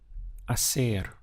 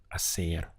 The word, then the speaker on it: hacer: verb to do is a ser you can see in the spelling we have an H but in Spanish pronunciation the H is always silent it's ignored so your pronunciation really